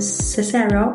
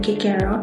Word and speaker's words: Cicero: According to Marcus Louis Cicero or Cicero in Latin pronunciation, culture is basically the cultivation of the soul, or what they call the cultura animi.